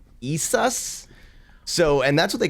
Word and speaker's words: Isis: when they mention isis the actual pronunciation of uh isis's name is like isas so and that's what